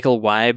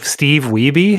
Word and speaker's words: Wiebe: you know Michael Weib, is that how you say his name? What? The guy who was trying to fight Billy Mitchell for the Donkey Kong? Yes. Oh, Steve Wiebe? Yeah, Steve Wiebe.